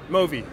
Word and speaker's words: Movi: How do you pronounce this, man? Movi.